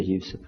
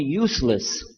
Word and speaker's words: Yusuf: Yousef did you say Yousef let me say Yousef you're very good I wish you teach my wife she keeps mispronouncing it she calls me useless alhamdulillah we heard about you were used to